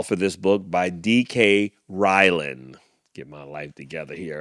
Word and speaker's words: Ryland: Ray Ray Ryland, I think it is. R Y R Y L- A N D. DK Ryland is the correct way to say that.